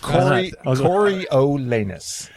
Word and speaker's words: Coriolanus: Coriolanus.